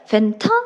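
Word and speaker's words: Fanta: 펜타 이렇게 네. 우리의 발음과 조금씩 다를 수 있으니까 그냥 그 발음으로 그대로 얘기를 하시면 되는데 다만 주의하실 거 사이다는 영어로 뭐라고 해요?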